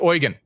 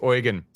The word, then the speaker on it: Eugen: And by the third time each time I'm saying Eugen, she seems to be sort of wincing a little. And she's like, it's Eugen. In Germany, we say it's Eugen.